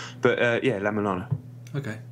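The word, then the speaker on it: La-Mulana: obscure Japanese but uh yeah la Milana okay it's a game how do you spell it La Milana La is in French LA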